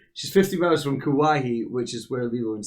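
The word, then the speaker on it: Kauai: called wahoo which is just 50 miles from kawaii i wrote down the pronunciation she's 15 hours from kawahi which is where lilo and stitch was set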